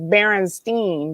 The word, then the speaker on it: Berenstain: EIN or the IEN, I didn't know how to pronounce that. And my brother was like, it's Berenstein.